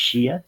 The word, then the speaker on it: Xia: The very first known Chinese dynasty was known as the Xia, even though it's spelled with an X. I believe it's pronounced Xia dynasty.